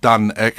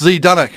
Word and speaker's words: Zdunek: reason why I went with the spelling of ZDUNEK but still pronounced DUNEK, so Yeah. please get it right. Yeah. Because everyone's just like, oh, it's ZDUNEK. I'm like, no, it's just DUNEK.